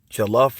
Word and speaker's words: jollof: This is jollof rice from Senegambia in Africa, from the Wolof tribe. I think that's why it's called jollof, because it rhymes with Wolof.